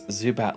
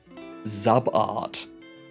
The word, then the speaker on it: Zubat: My cousin used to pronounce Zubat like Zabart.